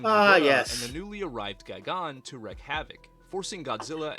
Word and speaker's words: Gigan: I used to call it Gigan, but it's Gigan. Who uncovers a plot by aliens disguised as humans to conquer Earth. They summon King Ghidorah and the newly arrived Gigan to wreak havoc, forcing Godzilla and...